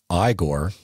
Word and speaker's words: Igor: he is greeted by Igor pronounced igore a hunchbacked servant and